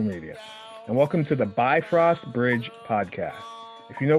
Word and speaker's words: Bifrost: first let's talk about that some pronounce it be frost some pronounce it bifrost or bifrost really quick uh and I'm going with bifrost